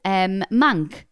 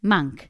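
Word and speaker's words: Maynk: My husband's last name is Mank. spelt M-A-Y-N-K, pronounced Mank.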